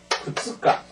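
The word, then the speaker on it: 二日: 따지 초 하루입니다 일은요 후스가 후스가 반드시 이렇게 발음해서 읽으세요 후스가 후스가 3일은 에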